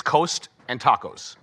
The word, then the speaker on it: Kostakos: Next up is Dave Kostakos. He actually pronounces his name, his last name on his emails is Coast and Tacos.